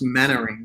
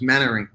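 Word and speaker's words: Mainwaring: it's it's written main wearing but it's actually pronounced mannering so like there's mannering mannering okay mannering okay i'm going to get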